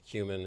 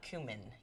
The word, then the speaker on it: cumin: tomatoes and cucumber with cumin and parsley and cilantro it's going to be really easy and it's cumin not cumin cumin I love cumin well I pronounce it not correctly but that's okay you